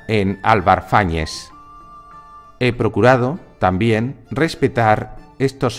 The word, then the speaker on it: Fáñez: Por ejemplo, si Álvar Fáñez aparece con nombre a mitad de verso, se puede leer Álvar Fáñez, dado que el contaje de sílabas lo permite. Sin embargo, a veces el trovador coloca Álvar Fáñez al final de verso. Y si se leyera así, Álvar Fáñez, la rima en aguda se desvirtuaría.